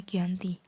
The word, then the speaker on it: Giyanti: Nama Giyanti diambil dari lokasi penandatanganan perjanjian, yakni Desa Janti, yang dalam pelafalan Belanda tertulis Lianti, namun dibaca Giyanti.